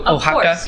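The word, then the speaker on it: Oaxaca: I bet Xavier is name how do you spell that's an O A X oh ohaka yeah remember the old alcohol bottles that would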